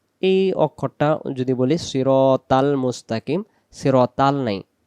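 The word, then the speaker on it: مستقيم: নামাজ পড়লে নামাজ আদায় হবে না ইহদিনাস সিরাতাল মুস্তাকিম মুস্তাকিম মিলে যাবে মুস্তাকিন কিন হবে না শেষে মিম অক্ষর মস্তাকিনা মুস্তাকিমদিনা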